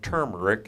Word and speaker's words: turmeric: more just for fun try turmeric or turmeric if you want the correct pronunciation and maybe saffron or